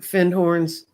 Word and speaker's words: Findhorn: And I'm going to put Findhorn's information up again so you can go look for it. It's really spelled like Findhorn, but the Scottish don't say the D.